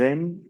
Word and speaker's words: aiment: Aquí no se pronuncia la S ni la Z. Aquí NT no lo pronuncio.